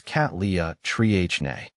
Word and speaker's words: Cattleya trianae: you're not familiar with Botanical terms it is pronounced as cat Lea Tri NE breaking it down into syllables can help with